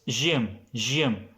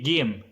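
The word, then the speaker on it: جيم: In the classic way, it was Jim. Then if I say it in the Egyptian way, Egyptian pronunciation, then it will be Gim.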